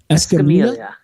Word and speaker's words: Escamilla: Jose, how do you pronounce his last name, Mark? Escamilla.